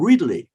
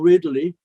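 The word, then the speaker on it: Reedley: still it's very active town uh dainuba and ridley and anuba is spelled u b d-i-n-u-b-a and ridley r e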